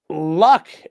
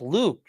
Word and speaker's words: Luke: And then Luck, aka Refcon. Oh, Reformed Convict. Oh, God, I didn't realize it for. Yeah, it's Reformed Convict. Sir, it's pronounced Luke, not Luck.